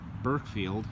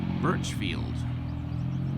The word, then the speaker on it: Burchfield: think 17th Kentucky infantry I mispronounced his name in his not Berk field it is Burchfield as evidenced by this